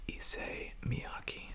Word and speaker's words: Issey Miyake: Now, I've heard this called a whole lot of different names, and I tried to check the correct pronunciation, and I came up with Issey Miyake, a Japanese designer that